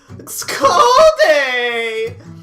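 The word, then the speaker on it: Ckalldaayy: this one um uh c-k-a-l-l-d-a-a-y-y which i believe is pronounced school day um they ask for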